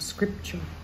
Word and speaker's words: scripture: it's like a picture so the TU is pronounced with a CH sound scripture in verse 17 we